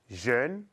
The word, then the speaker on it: jeune: Jeune tampoco no se cambia. Vieille, como puedes ver, cambia totalmente. Moche no se cambia. Presta atención. Les adjectifs mince, jeune, moche ont un E qui ne se prononce pas.